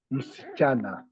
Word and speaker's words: msichana: the first one is msichana. Msichana. Let me bring my screen here to help write. The first one is msichana. Msichana. The pronunciation is not M, C, cha, and na. Msichana. Msichana. Msichana.